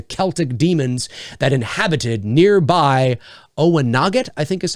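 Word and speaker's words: Oweynagat: and its devil infested other world oe nogget pronounced oh there we go oe nogget oe noggit uh and meaning cave of the cats was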